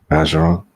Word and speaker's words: Bergeron: Bergeron. Bergeron. Bergeron. So that is Cajun.